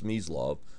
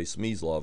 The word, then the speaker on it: Smyslov: his name the way it's supposed to be pronounced which is SME law but unfortunately a lot you say SME love and a lot of players in the US